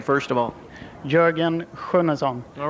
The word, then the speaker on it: Jorgen Sjunnesson: we'll get it right from the source the pronunciation of your name first of all Jurgen kazon all right welcome to North America we were